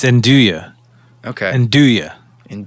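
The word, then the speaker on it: Zendaya: it was one of those things yeah it's zenduya okay and do ya in do yeah it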